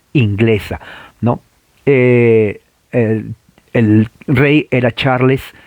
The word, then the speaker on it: Charles: a charros o que la e no se pronuncia sino l y s charles primero así es charles primero charo no charles porque generalmente en español a él